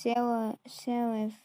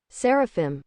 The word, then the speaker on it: Seraphim: This is how it's spelled, and it's pronounced Seraphim. However, still I pronounce that one. Now, before I didn't realize this, but it's actually pronounced Seraphim.